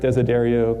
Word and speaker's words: Desiderio: But most of all, the most important thing here is my last name rhymes with car stereo. So Erik Desiderio, car stereo.